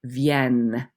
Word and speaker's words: viennent: So singular, elle vient. Plural, elles viennent. Okay, so the ENT is not pronounced, but it does make you pronounce that double N.